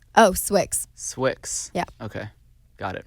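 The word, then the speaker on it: Swixxz: clothing company name oh Swick's Swick's yeah okay got it thanks I just didn't know if like the exes were silent if the Z was pronounced no literally no one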